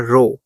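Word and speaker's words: rho: इसको हम पढ़ते हैं रो। ठीक है, जैसे हम करते हैं ना आर ओ डब्ल्यू रो, इसकी जो प्रोनाउंसिएशन है वो रो है, मगर इसको लिखा जाता है आर एच ओ रो।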